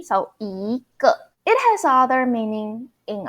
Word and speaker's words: 一个: When your character after the E is fourth tone or neutral tone, you need to pronounce E as a second tone. E, so 一个.